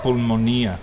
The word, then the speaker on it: pulmonía: Y el pronunciación es pulmonía.